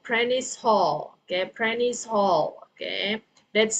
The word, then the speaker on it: Prentice Hall: And then Anna's number 2, the word is Prentice Hall, Prentice Hall, okay?